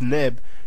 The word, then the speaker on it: neb: Sun and usually translated as ra and v30 pronounced neb usually translated as Lord or the and also